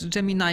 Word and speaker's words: Gemini: na misji Gemini 9 jammin' i się powinno wymawiać był też pilotem misji